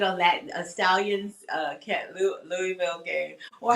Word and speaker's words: Louisville: So, yeah, if you can give me a update on that Stallions uh cat Louisville game or how do you pronounce Am I saying it?